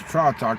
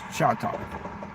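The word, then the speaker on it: chai tea: He says tra talk, but it's pronounced cha talk, which is basically a spiced tea.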